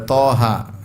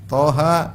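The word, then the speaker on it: طه: lagi misalnya apa ee Thaha ya contohnya lagi apa Yasin thha jangan dibaca thah Bacanya apa th ha Yasin dibaca jangan dibaca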